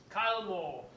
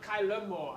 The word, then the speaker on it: Kylemore: coach of Kyle Moore he says I must say Kyle Moore not KY Moore I must say Kyle Moore it must roll off the tong and I um admit